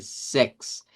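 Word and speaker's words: sechs: Recuerden que en la parte del 16 vimos que era un cambio de sonido, pero aquí volvemos a decir el seis como tal. Sex on zvanich. Sex unich.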